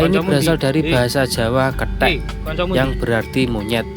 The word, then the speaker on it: ketek: Wisata ketekan kata ini berasal dari bahasa Jawa ketek yang berarti monyet. Bacanya ketek ya teman-teman bukan ketek. Kalau ketek nanti beda lagi artinya.